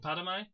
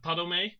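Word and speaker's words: Padomay: They came from Anu and Padme, but are split into like three separate groups. First, you have the Daedra, who came from Padme. I gotta say his name right. Padome, yeah.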